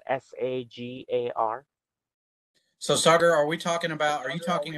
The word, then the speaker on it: Sagar: again what was your name my name is Sagar it's spelled s-a-g-a-r so Sagar are we talking about are you